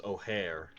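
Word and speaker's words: Ojer: I've always been pronouncing it as O'Hare. No, that is actually how it's supposed to be pronounced.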